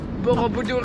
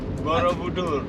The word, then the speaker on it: Borobudur: That's the difference between Susan and me. I say Borobudur. And Susan says Borobudur. How do you say it? Borobudur. Borobudur. See, that's how I say it as well. But you say the Borobudur.